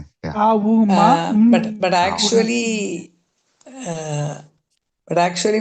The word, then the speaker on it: Om: the person kundalini awakening they chanted om but it is not om. The it is regarded it is regarded as akara ukara makara. Exactly. That is four syllables. A U M But but actually but